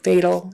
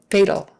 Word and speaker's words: fatal: fatal that a and that vowel before it is almost a throwaway vowel that you're hardly pronouncing at all it's just more like